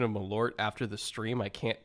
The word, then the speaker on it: Malört: hell of a combination now I would drink malort malort okay there we go uh it's you had the you had the that makes it worse yeah you had the emphasis on the wrong cabble oh man all right